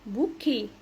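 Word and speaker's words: bouquet: طيب دايما بنقول عايز او عايزه البنات عايزه بوكي هي اصلا كلمه فغنسيه فرنسيه بتتنطق بوكي بوكي اخرها اوتيه انطقها ايه كلنا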